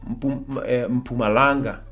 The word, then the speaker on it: Mpumalanga: We cannot say, hi, I am from Mpumalanga.